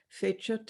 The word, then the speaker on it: fecit: The title of the poem is the Latin word, which I will pronounce as Church Latin, fecit.